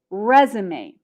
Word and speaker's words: resume: american english cv is not common we use resume the verb form of this is resume and